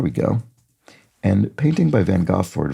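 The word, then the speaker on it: Van Gogh: go and painting by Van goord van go or or a more accurate pronunciation apologies during his time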